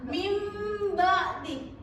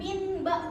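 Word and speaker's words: مِنْ بَعْدِ: Jadi cara bacanya itu bunyinya kayak mim. Mim bti bukan min ba bukan tapi mim ba gitu ya.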